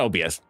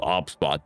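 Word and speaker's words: OBSBOT: Not OBS. The OBS bot. Sorry, I keep calling it OBS, but it's not OBS. It's called OBSOT. OBS B O T. Like that's how you spell it.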